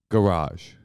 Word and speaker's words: garage: Garage. What did I say? Garage. I said garage. You said it like it was spelled G-R-A-J.